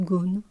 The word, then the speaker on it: Gaughan: ou de nora gones qui s'écrit gaughan à g a usé h1n1 mais qui apparemment se prononceront gorny goa voilà je suis